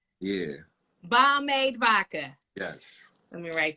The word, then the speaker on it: Bomade: And did I pronounce it right, Bomade? Absolutely not. Correct me, yes, please. It's bomb. Tell me, how should we really be pronouncing it? Bomb ass lemonade, like pomade.